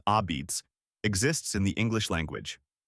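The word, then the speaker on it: apizza: and is the reason the word a pizza, pronounced ah-beets, exists in the English language.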